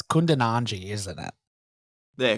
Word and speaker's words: Kundananji: It's Kundananji, isn't it? Yeah, Kundananji.